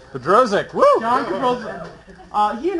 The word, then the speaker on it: Bodrozic: It's get butchered all the time. John Don't worry about it. It's a test. Bodrozic. Bodrozic.